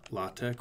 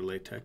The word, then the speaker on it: LaTeX: use a program called la tech or latex depending how you pronounce it which is a program